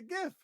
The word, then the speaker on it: GIF: format that ends in .gif? I say it's a GIF. You might say it's a it's a it's a GIF. gift. No, it's a Yeah, gift. It's a gift. it's a hard G.